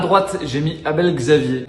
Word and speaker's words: Abel Xavier: À droite, j'ai mis Abel Xavier. Je le prononce à la française pour être sûr de pas faire de bêtises.